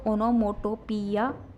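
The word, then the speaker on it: onomatopoeia: देखो इसका प्रोनाउंसिएशन वैसे तो ओनोमोटोपिया मोस्टली बोला जाता है, लेकिन रियल प्रोनाउंसिएशन की बात करें तो इसमें ओनोमोटोपी इतना है, और यह आपका साइलेंट ही रहता है, ठीक है।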